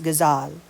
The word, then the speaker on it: ghazal: Exotic to the region, as is indicated by the very sounds of the name itself when properly pronounced as ghazal.